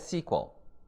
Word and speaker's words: SQL: Now, SQL stands for Structured Query Language, and it's pronounced as SQL.